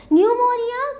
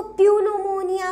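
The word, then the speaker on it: pneumonia: इसमें ये जो पी लिखा है, पी की वजह से आप सोचे कि इसको प्यूनोमोनिया पढ़ेंगे, लेकिन ऐसा कुछ नहीं है। पी साइलेंट होता है।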